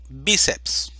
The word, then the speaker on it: bíceps: vamos a acentuar entonces entonces decimos sílaba tónica b y la vamos a poner la el acento gráfico bíceps a continuación tenemos las